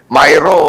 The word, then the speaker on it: Miru: nilagdaan ng COMELEC at yung Korean firm na miro systems at bang pronunciation yan myo o miro na 1 cle ay ano po ah miru po miru miro ayun yung 17.99 billion na